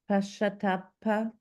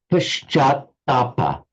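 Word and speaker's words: पश्चात्ताप: Can you pronounce it, James, just once, please? Pashatapa. It's Paschatapa.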